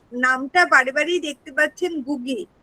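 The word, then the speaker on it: Ngũgĩ: বারে বারে দেখতে পাচ্ছেন গুগি এনটা সাইলেন্ট থাকে গুগি ওনার নাম এখন যেভাবে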